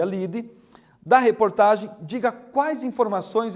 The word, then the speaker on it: lead: título se chama livre se escreve Lead mas se pronuncia lide da reportagem diga quais